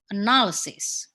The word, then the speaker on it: analysis: so does it analyze when it when it's verb it's analyzed but when it's um a noun analysis okay something like that so